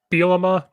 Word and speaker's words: Bielema: Is it Bellama? Bielema. I'm going to keep saying Bielema because I've said it like that my whole life.